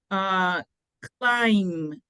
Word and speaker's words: climb: And aquí es climb. Siempre que encuentren MB, la B siempre es silenciosa.